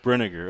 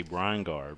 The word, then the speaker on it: Brenniger: And how do you pronounce her name? The first baseman? Brenniger. Okay. All right, Brenniger is the first baseman's name for LCA. For some reason, I wanted to say Brian-Gar, but I wanted to make sure.